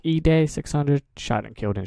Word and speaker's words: Edai: gonna be reacting to i believe is pronounced e day 600 shot and killed